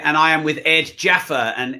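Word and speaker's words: Djaffer: Hi, it's Rob Moore here, and I am with Ed Jaffer, and Ed's surname is spelled D-J-A-F-E-R. He doesn't want to get mixed up with Jaffa Cakes, which he's never heard before.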